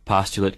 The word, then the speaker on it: postulate: something that is proven using postulates what's more postulate can be used as a verb too only it's pronounced postulate sherlock holmes rarely postulated things waiting